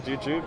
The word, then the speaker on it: Jujube: I was just talking to Matty about you're going to pronounce it probably, the Jujube Cola. You got it, man. Jujube, yeah.